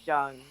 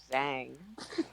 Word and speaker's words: Zhang: Like it's Zhang, not Zhang.